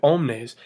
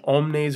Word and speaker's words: omnes: at the first one omnes welas you have a long es in omnes and a long a s in weilous and for the word